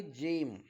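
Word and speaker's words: gem: letter जी नंतर येईल तर जी चा उच्चार ज असा करावा जेणेकरून शब्द वाचत असताना आपली स्पेलिंग चुकणार नाही आपला उच्चार चुकणार नाही आणि लिहिण्यास आपल्याला सोपं होईल मग बघा पहिला शब्द आहे जेम दुसरा शब्द आहे जायंट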